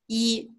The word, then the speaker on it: 一: 对, E. Can you write it? Use your hand. Okay. E. Now, E. Yeah, you can write a Chinese character. Yeah, that's E.